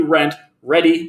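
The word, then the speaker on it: Rentredi: you haven't checked out rent ready it's r-e-n-t rent ready but it's spelled weird r-e-d-i rent ready there should be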